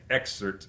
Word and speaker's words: excerpt: part that's copied and with this word the p is silent we see excerpt you don't really hear